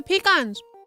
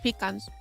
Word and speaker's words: pecan: I like pecans. I like pecans. And I hate it when people say pecan. Yes. I would like a pecan pie. It's peacon.